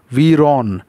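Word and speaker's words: ویران: তারপর আমরা বলি না যে বিরান ভূমি, হ্যাঁ এটা কিন্তু ফার্সি শব্দ ভিরান। ফার্সিতে ওয়াটা অনেক সময় ভয়ের মতো উচ্চারণ হয় ভ, সেজন্য ভিরান, ভিরন, ভিরন।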